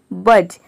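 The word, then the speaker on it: budge: अब देखिए यहाँ पे बी यू डी जी ई है, यानी कि डी के बाद जी ई आ रहा है, इसलिए यहाँ पे डी साइलेंट है। बी यू जी ई ये केवल हो गया बज।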